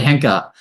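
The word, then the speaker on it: Henke: Um, Rob, how do I pronounce the name Robert Hanki? Did I get it? Yeah, Robert Hanker and um yeah, Gard um the two original founders.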